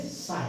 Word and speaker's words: sign: जैसे कि साइन, सिग्नेचर होते हैं, स्पेलिंग क्या होती है? SIGN, और हम क्या बोलेंगे? साइन। क्या बोलेंगे? साइन। जी का प्रोनाउंसिएशन हमने उच्चारण नहीं किया।